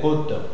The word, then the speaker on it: côte: Chose chose dans le cas de côtes. Côte c'est à cause de l'action circonflexe qui va nous donner la référence.